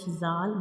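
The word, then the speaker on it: ذ: upper front teeth, and in the case of zal, we also touch the tip of tongue to the edges of upper two front teeth. So these two letters zal and sa have same pronunciation but have different sounds and different shapes.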